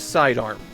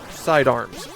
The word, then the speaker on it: Side Arm: Officially, per Capcom, the title of this game is Sidearm. Yes, the logo spells it Sidearms, but Capcom explicitly says that is incorrect. The Hue card is actually the first time that they've spelled the game's title phonetically, so before this, even Japanese players were calling it Sidearms.